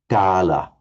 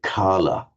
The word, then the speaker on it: gala: It's difficult for an English speaker correctly to pronounce gala. They tend to say kala, but gala.